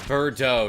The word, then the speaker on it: Birdo: Remember, it's Birdo, not Bird Don't. Tee-hee-hee. Yes, that's Birdo. No mister. Accent on the dough.